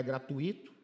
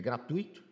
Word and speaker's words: gratuito: Aqui já tá errado porque não é gratuito. É gratuito.